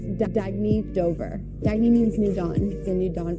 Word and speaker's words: Dagne: good you can live life intentionally oh it's pronounced dagney do dagy means new dawn it's a new